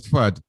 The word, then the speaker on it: FUD: then anton fud fud you should pronounce this as fud fud uh yeah i know